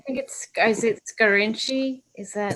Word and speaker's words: Scarinci: Seconded without knowing the proper pronunciation of that I name. think is it Scarinci? Is that? It's Scarinci and Hollenbeck.